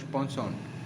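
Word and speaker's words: penchant: Next word was पंशॉन्ट, इसका pronunciation क्या होगा, पंशॉन्ट, ठीक है, पंशॉन्ट, PNCHANT।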